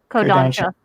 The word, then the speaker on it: Kodansha: So in English, we've got the original Viz translation, and then we got the second translation from, how do you pronounce that? Kodansha? Kodansha.